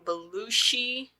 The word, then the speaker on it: Belushi: this time Acro met comedian and writer John balushi I say that right yes okay who had